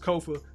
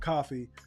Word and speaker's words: Kofa: Once again, I have been your humble host, Kofa, Kofa, not coffee, not, not Kofi, or any variation thereof. Kofa rhymes with sofa, easy to say, easy to spell.